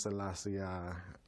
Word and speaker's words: Selassie: And the king name is Selassie, not. But he pronounced it different.